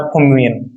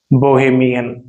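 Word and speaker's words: bohemian: तो कहलाता है फोमियन, बोफिमियन, बेफिमियन। बोहेमियन, बोहेमियन, सॉरी मैंने प्रोनाउंसिएशन गलत बोल दिया था, बोहेमियन, बोहेमियन यही करेक्ट आंसर है।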